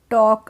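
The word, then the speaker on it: talk: Know that tigers could टॉक। अब इसमें टॉक है तो इसमें एल साइलेंट रहेगी, टॉक है तो एल साइलेंट।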